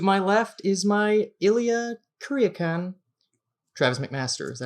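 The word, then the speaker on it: Kuryakin: I am the Napoleon Solo of the show, Paul Getz, and to my left is my Ilya Kuryakan, Travis McMaster. Is that how you pronounce it? Yeah, Kuryakan.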